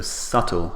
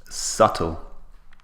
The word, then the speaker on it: subtle: see is the spelling there's a B in subtle but the B is what we call a silent letter so we don't pronounce the B in this word strange but English is